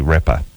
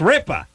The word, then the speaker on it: Ripa: You're mispronouncing the person's last name. It's not Ripper.